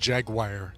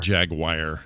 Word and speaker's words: Jaguar: I will tell you, I will tell all of you right now that it's not pronounced Jaguar, okay? Yeah, it's definitely not Jaguar. Or Jaguar. Yeah. It's Jaguar.